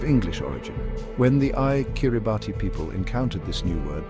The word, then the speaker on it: Kiribati: The most significant linguistic shift occurred with the letters T. In Gilbert, the combination T is pronounced as S.